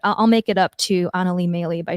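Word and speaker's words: Anneli Maley: bad because i just butchered her name and mispronounced it horribly but i'll make it up to anali maylie by saying her name correctly kamaya smalls as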